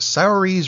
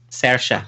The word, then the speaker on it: Saoirse: she's up against and I'm gonna mispronounce it salary's Ronan for Lady Bird yeah mm-hm pardon Sasha Sasha Ronan chef Saoirse Ronan